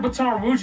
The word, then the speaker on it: Baton Rouge: The south side of Baton Rouge is divided into two sections, the top and the bottom.